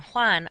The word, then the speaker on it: Juan: The letter J in Spanish is how they make our H sound. The names Jose and Juan are spelled with J's because that's when they use the H sound.